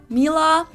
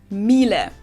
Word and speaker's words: Miele: wrong in English, but English native speakers usually say something like Miele, Mila. So it usually sounds more like an A in the end, whereas in German we say Miele. Miele, so the last letter is just a little bit different.